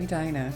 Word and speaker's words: Edina: Note the pronunciation of Edina if you're not from here.